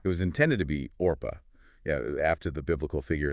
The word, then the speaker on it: Orpah: It was intended to be Orpah, yeah, after the biblical figure in the Book of Ruth.